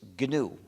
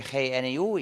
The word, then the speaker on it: GNU: porque, según el diccionario, la G es muda y la palabra se pronuncia new, es decir, nuevo. Entonces, cada vez que quieres escribir la palabra new, en vez de escribir N-E-W, puedes escribir GNU y es un juego de palabras.